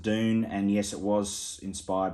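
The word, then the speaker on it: Dvne: the band uh dune it's spelt d v n e but it's pronounced dune and yes it was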